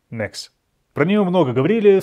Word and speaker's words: Mx: Читается – ещё раз, как /məks/.